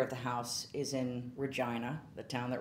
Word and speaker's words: Regina: And I had shot, that interior of the house is in Regina, the town that rhymes with fun.